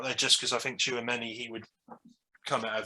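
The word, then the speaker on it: Tchouaméni: Yeah, I think it's Tchouameni you pronounce it, but he's I think the positions that we need to.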